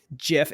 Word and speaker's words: GIF: No, it's GIF. Okay. 100%. Yeah. GIF. It's not peanut butter, people. Okay. And even that's spelled with a J.